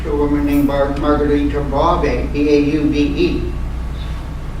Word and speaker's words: Bauve: Michael Catholic Church to a woman named Margarita Bauve, B-A-U-V-E. V is pronounced like a B.